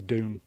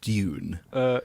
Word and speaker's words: Dune: it's a hardware because if you do it lazily, it sounds like June the month. So if you want to be incredibly posh, it's Dune.